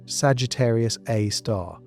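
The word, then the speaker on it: Sagittarius A*: At the exact center of the Milky Way sits Sagittarius A, pronounced Sagittarius A star, a super massive black hole with a mass of approximately 4.1 million solar masses.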